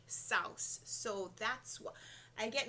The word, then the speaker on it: Seuss: I know I know everyone says it's Dr Seuss but I remember a few maybe a couple of years ago and Jeopardy it was a question in Jeopardy and they said that the pronunciation was actually South so that's what I